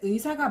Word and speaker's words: 의사: 자, 단어의 첫 음절에 있는 의는 의로 발음하기 때문에 1번의 발음은 의사가 맞습니다.